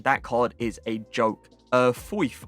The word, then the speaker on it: Foyth: Foyth, I believe is how you say it, the objective card.